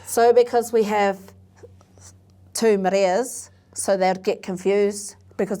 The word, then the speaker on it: Marea: So the public knows me as, or the, but my whānau know me as Maria. And I know when it's my whānau because they say my name correctly.